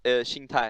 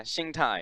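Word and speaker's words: 心态: I also got told that I've been pronouncing Sing Tai wrong. Yeah. It's like Sing Tai, right? It's Xing Tai. Xing Tai. Yeah, and basically means mental state.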